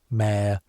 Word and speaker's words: Mhairi: You say her name quietly in the Irish way, Mhairi, two syllables, the second one soft.